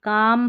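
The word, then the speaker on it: calm: इसको भी चाक नहीं चौक, और यहाँ देखिए कुड शुड, और यहाँ पर देखिए काम पाम बाम। तो यहाँ पर सभी में इन सारे स्पेलिंग्स की प्रैक्टिस कर लें, जहाँ पर L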